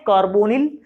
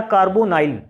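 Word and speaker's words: carbonyl: Next CO, इसको हम क्या बोलते हैं, कार्बोनिल या कार्बोनाइल। अब क्योंकि उच्चारण है NYL वाला तो इसको कार्बोनिल भी बोल सकते हैं और कार्बोनाइल भी बोल सकते हैं, दोनों ही सही है, जो भी आपकी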